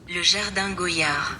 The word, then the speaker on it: Goyard: I again made sure I got the pronunciation correct. Goyar.